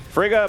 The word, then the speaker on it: Frigga: go to mark Tanika Frigga it is in fact Frigga my counter idea that is incorrect and I cannot accept an extra syllable in there yeah Italian GJ is